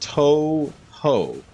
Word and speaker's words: Touhou: two how it's pronounced oh it's Toho okay so it was pronounced Touhou it's a 20 plus